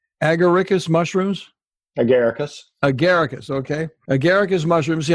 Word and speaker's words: Agaricus: I'm going to see if I pronounce this correctly. Agaricus mushrooms? Agaricus.